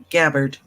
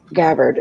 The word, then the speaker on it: Gabbard: will be about Chelsea how do you pronounce her last name Gabbard Gabbard okay I was going to give it a hard G and whether or not